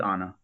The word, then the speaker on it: Anna: like it's like Anna how do you pronounce her first name I always say it wrong I'm not 100% sure but I think it's Anna okay Anna Ferris yeah